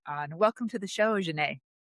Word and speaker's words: Xanet: Welcome to the show, Jane. Thank you so much, Melissa. I'm happy to be here. Am I saying it right? Am I saying Jane right? You totally said my name right.